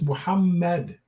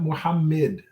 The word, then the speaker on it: Muhammad: be an a sound his name is muhammad not muhammad okay you should not be